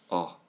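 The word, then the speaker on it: ㅓ: the evening time and the pronunciation for this one is oh oh and then the last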